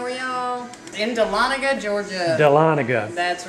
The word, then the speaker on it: Dahlonega: Well, we would tell you the name of this place, but I'm afraid I'll mispronounce it. Dahlonega, Georgia. What do you say that it? I think it's Dahlonega.